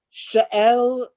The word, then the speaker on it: Shealtiel: So Zerubbabel, the son of Shealtiel. Shealtiel. That's how it's pronounced.